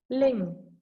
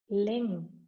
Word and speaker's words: Ling: Ling rhymes with sing. Ling, I repeat.